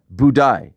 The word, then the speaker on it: Buday: Uh, budai. Budai. Budai. That's That's what the broadcast calls them. I thought it I thought it was I thought it was budai.